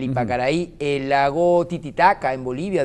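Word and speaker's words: Ypacaraí: noticia donde el lago Ipacaray en Paraguay le van a vertir cloro de la pestilencia que está teniendo este lago. ¿El Ipacaraí? El Ipacaraí. Disculpa, lo pronuncié mal, el Ipacaraí, el lago Titicaca en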